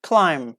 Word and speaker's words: climb: be as you say if you see divert finish with M and B combination at the end of the word we don't pronounce be okay climb that's it thumb that's